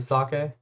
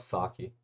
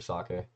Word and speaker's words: sake: Is it sake? Is that how you pronounce it? Sake. That makes sense. Actually, I always call it saki.